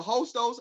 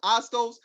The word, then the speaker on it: Hostos: name of the college there's a hostos astos tell somebody help me with the name of the college Senator you said it right the first time oh Stokes okay so